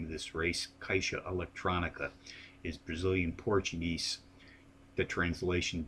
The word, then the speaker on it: Caixa Electronica: Eastern post time for the kaisha Electronica Stakes at the seven furong Sprint on aqualu